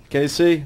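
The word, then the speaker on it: Kayse: Casey, is that your name?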